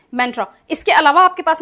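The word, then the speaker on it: mantra: उसके अलावा आपके पास में हिंदी में शब्द है मंत्र। इंग्लिश में हो जाता है मेंट्रा। और इसका इंग्लिश प्रोनाउंसिएशन भी ऐसा ही है। तो मैं प्रेफर करूंगी कि आप ऐसे ही प्रोनाउंस करें। सो दैट आप बेसिक इंग्लिश ग्रुप में आ सकें। ठीक है? इसको कहते हैं मेंट्रा।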